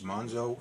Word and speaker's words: Monxo: o mo n XO so if you're pronouncing the excesses it's munzo and wolf wire so